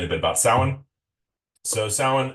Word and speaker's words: Samhain: So sin, s a m h a i n is how you spell it. Um, obviously not pronounced like that, but it's just Halloween.